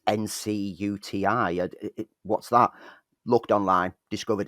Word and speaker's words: Ncuti: It's in recent months, with Ncuti Gatwa being cast in Doctor Who, looking at Ncuti's name, it's how do you pronounce that? Because it's Ncuti.